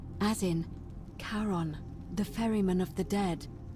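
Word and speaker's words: Charon: it's just as you described it only your pronunciation is a little off the name you heard wasn't Karen it was c h a r o n as in Caron the ferryman of the Dead karon who in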